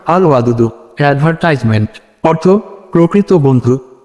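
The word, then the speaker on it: الودود: উচ্চারণ আল ওয়াদুদু।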